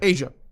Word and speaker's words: Aisha: Is it pronounced Aisha or Asia? Asia.